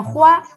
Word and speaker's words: 花: Para empezar, ustedes pueden ver que este carácter es el que actualmente utilizamos como flor, que se pronuncia hua en chino.